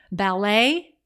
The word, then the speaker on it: ballet: other languages and cultures ballet has a silent t on the end based on the rules of French the CH in chord